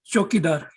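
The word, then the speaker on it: चौकीदार: Chokidar.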